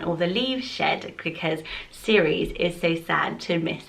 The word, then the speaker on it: Ceres: And it's where we get the name cereal from, so that's how you can kind of help you with the pronunciation, because it's a bit of a funny one.